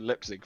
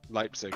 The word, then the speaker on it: Leipzig: you can you wake up and go to lip sync for me leap leipzig thank you for the pronunciation would you like to go to leipzig